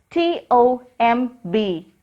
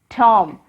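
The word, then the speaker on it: tomb: T-O-M-B, Tom. Repeat it. Tom. Here also, letter B is silent.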